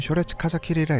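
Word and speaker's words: 初烈風斬り: 일본어로는 쇼레츠 카자키리라 읽고 한자로는 처음초, 매울열, 바람풍, 벨참입니다.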